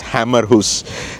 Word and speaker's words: Hammershus: visited attraction, is the Hammershus castle ruins. Yeah, or if you say it in English, it's Hammerhus. So it's actually spelled like hammer.